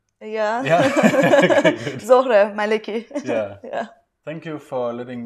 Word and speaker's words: Zohreh Maleki: I'm pronouncing your name correctly. Yeah. Zohreh Maleki.